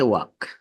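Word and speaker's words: walk: Pronunciation. কে তে আছে নাই, ডাব্লু তে রাইট, বি তে কম, এল তে ওয়াক, টি তে লিসেন, এইচ তে অনেস্ট, জি তে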